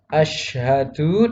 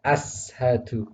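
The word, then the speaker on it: أشهد: Contohnya pada kata asyhadu dibaca ashadu. Ini salah. Jadi tidak boleh membaca asyhadu dengan ashadu.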